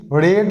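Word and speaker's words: read: আর রিডেড বলে কোন ওয়ার্ড হয় না হি রেড দা বুক ইয়েস্টারডে তাহলে অপশন এ হবে সঠিক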